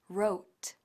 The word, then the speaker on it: wrote: aprovechamos para recordarte que igual que la W de wr es muda y se pronuncia right también lo es la W de wr que se pronuncia wrote veamos lo eos the